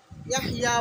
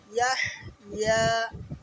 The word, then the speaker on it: يحيا: الذي يصلى النار الكبرى ثم لا يموت فيها ولا يحيا অনেকে ইয়াহইয়া বলে, ইয়াহইয়া নয়, ইয়াহইয়া। পরিষ্কার উচ্চারণ হাকে করতে হবে, তারপরে ইয়া আলাদা করতে হবে।